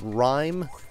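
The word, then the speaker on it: Rime: We saw a game called Rhyme, which it reminded me of the game.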